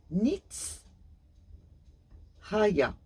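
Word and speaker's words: Nith-Haiah: à Saint Léopold le génie du jour c'est Nick Raya cela s'écrit Nith petit- H a I a h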